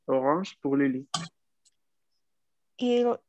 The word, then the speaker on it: orange: Orange. Ok. Atención aquí a pronunciar bien la R si no terminan diciéndolo en inglés.